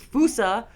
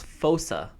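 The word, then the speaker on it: fossa: your lives yeah it's fousa fosa fosa so the way Google pronounces it the way Google pronounces it is fosa fosa like fo and then saw yeah like fosa and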